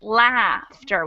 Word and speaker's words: laughter: uh-huh so we have first off the spelling of those words is totally crazy because we have a silent gh in both of them but on top of that they're spelled the same and pronounced differently once again so we have doctor